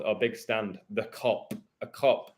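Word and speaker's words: Kop: The Cop. A cop, like a policeman. Joke. No, but cops with a K, not a C. It don't matter. It's pronounced the same way.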